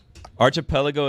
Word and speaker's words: Archipelago: I think it's Arc at the start. It's Arc. Archipelago is a group or chain of islands clustered together, often in an ocean or sea.